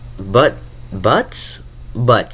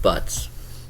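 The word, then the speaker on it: Butz: It's Buzz? Butts. That's how it's pronounced. Butts.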